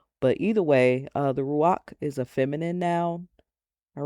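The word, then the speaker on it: רוח: point out that the word for breath is ruah and um like ruah or ruach is also uh pronounced as ruach.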